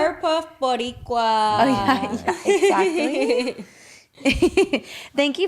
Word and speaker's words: Boricua: Powerpuff Boricua.